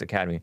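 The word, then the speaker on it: Academi: maybe because of the negative media coverage to academy it's spelled a-c-a-d-e-m-i so i want to say academy but it's really academy pronounced academy his sister eric prince his who's the founder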